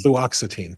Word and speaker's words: fluoxetine: Fluoxetine, thank you.